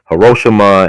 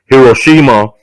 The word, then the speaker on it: Hiroshima: they know you don't know how to pronounce the word is say hirosima some people say Hiroshima some people say Hiroshima and they both right and then Nagasaki on